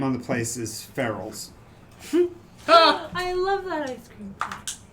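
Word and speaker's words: Feral's: One is the name on the place is Ferrell's, I love that ice cream. but it's spelled FERAL''S.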